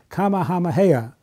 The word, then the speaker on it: Kamehameha: to ye and I have a little trouble pronouncing this name but it's pray it's King Kamehameha uh King Hama Hama hey the first and